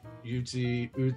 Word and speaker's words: Ute: I mean, renowned flautist, Navajo, Uti, I don't know how you pronounce that actually, heritage. Apologies to everyone. Ute. I think it's just Ute.